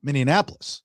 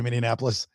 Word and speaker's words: Minneapolis: You don't like the way I say Minneapolis. That's not the word. Minneapolis. Nope. What is it then? Minneapolis. Mini. It's not Minneapolis. No, you're adding a syllable. It's Minneapolis.